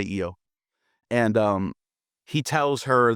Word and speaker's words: Io: Prometheus is talking to Yo or IO some pronounce it as IO I'll say IO and um he tells